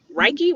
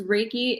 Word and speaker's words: Reiki: you explain what raiky raiki wait say it again I keep saying it wrong raiki so it's like a sun and a door key raiki raiki gotcha so can